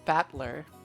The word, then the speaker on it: Battler: Oh, so his his name is made up of the characters for fight and person and it's pronounced batler.